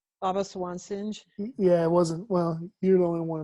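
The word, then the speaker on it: Singh: one sing baba swan singe yeah i wasn't well you're the only one i've ever heard pronounced singe everybody else says sing i think you're the only one that's pronounced it the right way but yeah it was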